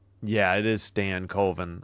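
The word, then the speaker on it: Stankoven: Yeah, it is Stan Coven. I always want to say Stankovven, but it's Stan Coven.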